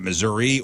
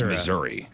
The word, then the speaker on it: Missouri: questions in the state how do you pronounce the name of the state is it missoui or Missouri M and ladies and gentlemen I mean it's Missouri yeah this isn't even